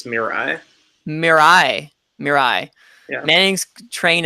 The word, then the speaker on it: Mirai: breaks the Emma Internet and how did you pronounce it Ryan me Ari its Mirai Mirai your eye Manning's train of pronouncing things